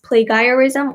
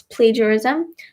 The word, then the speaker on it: plagiarism: different there's also plagiarism many people might pronounce that as plagerism or pleasure ism but it's plagiarism there's also definitely specific